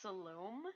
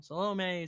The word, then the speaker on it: Salome: here but I think her name's pronounced Salome Salome it's a tomato tomato tomato salami so let's alum salami yep that's our little name quite a few people have made that mistake more than enough times and I am probably